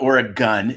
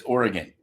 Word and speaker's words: Oregon: It's not Oregon. It's Oregon. I think you should pronounce it the way the people that live there.